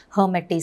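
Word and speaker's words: Lhermitte: is called as a hermitage sign the l is silent so this is seen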